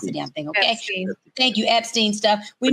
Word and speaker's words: Epstein: We knew about this whole possible Einstein stuff. We knew about this whole Einstein, whatever. Say it, Tori. I don't care how you pronounce the damn thing, okay? Epstein.